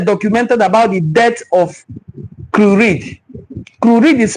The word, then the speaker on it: Crewe-Read: So I'm going to read about what they documented about the death of Curid. Curid is spelled Crewe-READ.